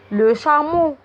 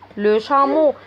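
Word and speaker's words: le chameau: بعد كده عندي جمل لو شامو، جمل لو شامو. برضو بصوا هنا الاو ا اللي في الاخر بيتنطقوا او.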